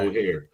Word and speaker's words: O'Hare: O'Hare? O'Hare? Think of hair. You're right. Hair. O'Hare. Think of the hair.